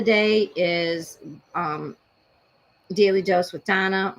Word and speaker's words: Dana: is Daily Dose with Donna, only it's spelled Dana because she spells it the Israeli way.